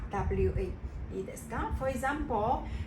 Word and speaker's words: は: in this sentence pattern when we use it as a particle it will be pronounced as what wa it is done for